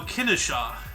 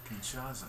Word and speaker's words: Kinshasa: leopoldville which is now Kennesaw how do you pronounce it again Kinshasa he is right it